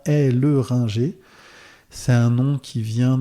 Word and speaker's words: Helleringer: dans le on recorde est-ce que j'ai bien prononcé ton nom de famille ah sujet compliqué mon nom de famille donc oui mon nom de famille c'est bien et le Ringer c'est un nom qui